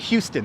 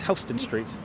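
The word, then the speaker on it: Houston Street: O'Brien oh that's there you go vessie is pronounced correct but hon is right hon yeah it's not Houston it's hon Street yes hon is HST let's go to Hon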